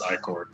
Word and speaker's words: ichor: through this thing, splatters of this disgusting black ichor just splats into How'd the you air. pronounce that? Ichor? Isn't it Icar? Look that shit I up. think I say Ichor as well, but it's Icor.